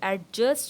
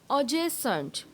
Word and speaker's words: adjacent: तो आप यूँ समझें adjacent, नॉट एडजेसेंट, adjacent।